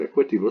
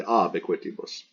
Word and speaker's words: ab equitibus: And we have the B in ab because the next word, equitibus, starts with a vowel. We don't say equitibus, we say ab equitibus.